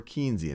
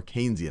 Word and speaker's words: Keynesian: more one that's more Keynesian. And some of what we've talked about, or Keynesian, I should say, I already did my first mispronunciation, one that's a little bit more Keynesian.